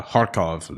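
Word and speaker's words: Kharkov: he was in harukev he calls it uh harkov it's like the russian way of saying it right i have again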